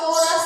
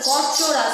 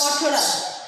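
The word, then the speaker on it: Corchorus: দীপক নামকরণ, প্রথমে যেটা আছে ধান, অরাইজা স্যাটিভা, অরাইজা স্যাটিভা, তারপর হচ্ছে পাট, পরচোরাস, ক্যাপসুলারিস, কর্চোরাস ক্যাপসুলারিস, এটা কোরাস না কিন্তু কর্চোরাস, উচ্চারণ হবে কর্চোরাস, কর্চোরাস ক্যাপসুলারিস।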